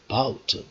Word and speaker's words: about: This a is not stressed here, it is unstressed one. Okay, and rather what, rather about is stressed here. Okay, vowel. Here we have got two different vowels, a and ow, two different vowels. Out of this, if there are two different vowels, then there are two syllables. Okay, two syllables. Okay, that's why a is unstressed syllable and bout is what, stressed syllable.